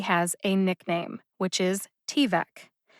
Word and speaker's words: T-VEC: a nickname which is t-vec t like the letter t and vec which rhymes with neck t-vec put the emphasis on